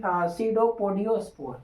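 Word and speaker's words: pseudopodiospore: इसको बोलते हैं सी सडोपोडियोस्पोर। लिख लेते हैं। यहां पर देखिए एस से लिखाएगा ना पी यहां लिखाएगा पी से। बट यहां पर पी साइलेंट होता है।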